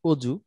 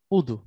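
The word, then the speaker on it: وضوء: আচ্ছা, দদ যে শব্দটা, ওয়ার্ড লেটার দদ, যেমন আমরা বলি অজু, মূলত আরবিটা হচ্ছে উদু, জি উদু।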